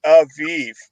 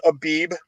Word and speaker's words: Aviv: renewed moon of the aviv now the king james version it says abeeb that's a linguistic issue it's based on your location of whether you pronounce it abee or aviv but even in the